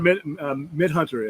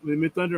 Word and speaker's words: Midthunder: Amber Midhunter. Am I pronouncing her name right? Amber Midhunter. Yeah. Is she carries the movie? Mid Thunder. Is it Mid Thunder? Mid Thunder. I'm sorry.